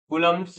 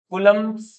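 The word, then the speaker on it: Coulomb: है ना थोड़ा लिखेंगे कलम्स लॉ यानी कि कलम का नियम ठीक है हिंदी में अपन लिखेंगे कलम लेकिन इंग्लिश में जब लिखोगे तो कलम आता है इसमें बी जो है वो साइलेंट है ऐसा इंग्लिश मानती है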